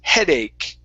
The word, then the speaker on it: headache: Okay, this one right here, this is the K sound. Okay, like stomach with the CH at the end. This word is headache.